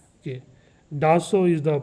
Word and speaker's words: Dassault: Dassault is the pronunciation, okay?